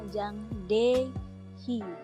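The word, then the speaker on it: Jang Dae-hee: Sama kayak Jang De kan Dae nih ya, Dae. Kan tulisannya kan Jang Dae He gitu kan. He. He. Itu bacanya Jang De Hi.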